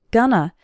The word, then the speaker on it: going to: phrases in spoken english going to is often pronounced gonna like when the hostess